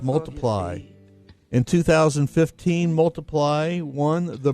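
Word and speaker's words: ×: On Christmas in 2014, Ed Sharon was at number one on the album chart with X pronounced Multiply.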